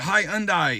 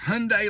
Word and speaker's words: Hyundai: She called it high unai. It's Hyundai like Sunday.